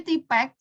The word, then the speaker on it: TPACK: Sebenarnya TPCK ya, nggak ada unsur A-nya. Dikasih A supaya memudahkan pelafalan atau menghafalnya. Kalau misalkan TPCK kan lebih sulit. Enaknya bilangnya TIPEC gitu aja ya.